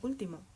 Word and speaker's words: último: Pero como no se pronuncia sofá, tengo que marcar gráficamente la diferencia. Lo mismo con último.